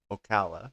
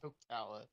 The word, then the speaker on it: Ocala: Um, how you say it again? Okala. Okala. Yeah.